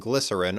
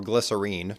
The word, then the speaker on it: Glycerine: Head big hit and glycerin or Glycerine depending on how you're pronouncing it which is probably their